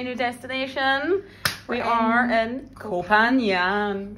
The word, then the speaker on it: Koh Phangan: We are in Koh Phangan. Phangan. Koh Phangan. That's how you say it, according to our driver.